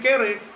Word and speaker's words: kere: Nah, kalau bahasa Kreol jadi kere. Tulisannya KERE.